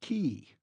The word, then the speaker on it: cay: K is pronounced key.